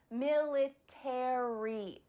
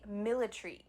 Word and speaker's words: military: In American English, you're going to pronounce each of the final letters, A-R-Y, military. In British English, they often cut out the A. So instead of military, it would be military, military.